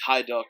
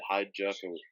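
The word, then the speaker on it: Hajduk: also as you know I'm mispronounce the name in the beginning in my match preview it's hi duck not whatever I said hi Jess whatever see there they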